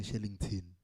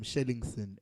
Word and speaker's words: Shellingson: Stop calling me Shellington. People do that a lot. Shellington. I'm Shellingson, SA. Okay. Shellington. Shellingson. Shellingson. Okay, you just spell that out for the listeners who want to follow you. SHELLINGSON, not TON.